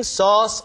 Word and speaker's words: sauce: When I'm making sauce for something, 소스가 아니라 발음이 써에 가깝죠.